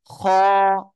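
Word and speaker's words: خ: সেটা আমি আগে বলবো ওকে আমরা এটা উচ্চারণ করবো গলার শেষ ভাগ থেকে কোন জায়গা থেকে আমার সাথে বলেন গলার শেষ ভাগ থেকে খ উচ্চারিত হবে এক আলিফ টান হবে এই যে লিখতেছে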